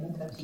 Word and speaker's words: Mettaji: name first of all it's a nice name met G is that how you pronounce yes you got it thank you good